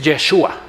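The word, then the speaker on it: ישוע: Y le digo, oye, ¿cómo se pronuncia Josué? Y me dice, Yeshua.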